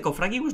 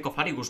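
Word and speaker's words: Cofagrigus: No se dice Cofragibus, no se dice Cofagribus. Se dice Cofarrigus, ¿verdad?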